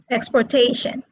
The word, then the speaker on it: exportation: these are all verbs two syllable verbs are stressed on the second syllable and the second column these words are all nouns and they are stressed on the third syllable as you can see